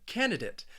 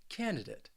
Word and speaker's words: candidate: the epitome of something else then we have candidate and this word has three syllables and the stress is on that first syllable candidate now the reason why i think this word